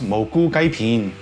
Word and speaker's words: Moo Goo Gai Pan: It's a weird sounding name, especially because I'm a Cantonese speaker, and it is actually pronounced Moo Goo Gai Pan.